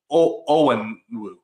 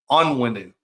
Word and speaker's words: Onwenu: able to pick up someone like Michael Owen. I hate that I say his name wrong. Onwenu is his name.